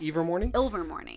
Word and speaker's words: Ilvermorny: For example, I mean, now it may have been on Pottermore before, but Ilvermorny, right? Is that how you say it? Yes. Ilvermorny?